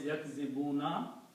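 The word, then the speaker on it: يكذبون: Kanu yakzibun. And the actual word is yakzibuna. When we stop at the ayat, we pronounce yakzibun, but the actual word is yakzibuna.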